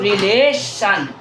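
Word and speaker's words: relation: टी आई ओ एन टी आई ओ एन जहां रहेगा वो पढ़ा जाएगा सन तो क्या हो गया बच्चों रिलेशन क्या हो गया बच्चों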